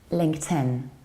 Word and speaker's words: LinkedIn: to pronounce this one this is not linked a beam or link Athene its length 10 LinkedIn how about this one